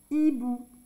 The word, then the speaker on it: hibou: un haricot ici un hibou un hibou même si on entend pas le h on ne fait pas un hibou un hibou ici Caine cathertherine c'est